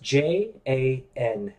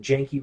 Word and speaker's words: Janke: road in the neighborhood pronounced it Janky Road. Janky. Janke. Janky Road. But this guy insisted that it was Jank Road. That the E was like silent, or like is like an end of word E, but didn't make it a long vowel sound because he had the